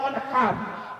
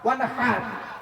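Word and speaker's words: وَانْحَرْ: ইন্না আতাইনাকাল কাউসার ফাসাল্লি লিরাব্বিকা ওয়ানহার। ওয়ানহার এই গলার ভেতর থেকে এটা উচ্চারণ করবেন।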